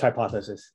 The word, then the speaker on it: Hypothesis: And it's just hypothesis. There's no need to speak the punctuation.